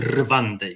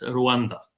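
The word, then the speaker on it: Rwanda: się nazywa Malawi i pamiętajcie, że należy po angielsku wymawiać te wszystkie. Nie ma żadnej rwandy, jest ruanda. Nie ma żadnego Malawi. Jest Malawi. Także trzeba tak to czytać.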